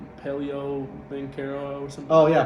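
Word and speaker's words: Paolo Banchero: I will say, okay, so how do you pronounce his name? Paleo Banchero or something? Oh, yeah, Paulo Banchero.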